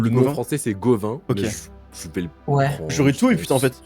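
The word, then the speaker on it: Gauvain: Gavin, Gawain, je sais pas comment prononcer, mais je suis pas sûr. Pas Le du nom Gauvin. français c'est Gauvin.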